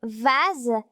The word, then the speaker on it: vase: Dans le mot rose, S se prononce Z. Je remarque que la lettre S est entre la lettre O et la lettre E. Dans le mot vase, S se prononce Z.